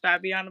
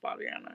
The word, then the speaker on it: Fabiana: here well it's Fabiana my name is pronounced Fabiano by the way it's not Fabiana it's okay though it's